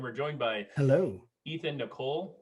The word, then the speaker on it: Nicolle: joined by hello ethan nicole pronounced like the girl's name um and uh ethan